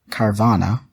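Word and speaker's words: Carvanha: Yeah, Carvana.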